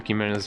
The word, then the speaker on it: Chimera: Chi, like hi.